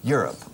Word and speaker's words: Europe: Así se pronuncia Europa. Okay? Europe. Acentuando la primera.